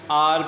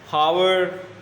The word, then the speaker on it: hour: ये जो लफ्ज़ है HOUR, इसको हम आर पढ़ते हैं। कुछ स्टूडेंट्स, कुछ टीचर्स इसको मिस प्रोनाउंस करते हैं, इसको हावर या कुछ आवर टाइप पढ़ते हैं। It's simply आर, फॉर एन आर।